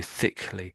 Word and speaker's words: thickly: So thickly. So I guess I'm saying thick quite strongly, then putting a lee on the end of it.